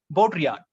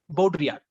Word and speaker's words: Baudrillard: a french name that two l both are silent here baudrillard so jean baudrillard jean baudrillard was a critic and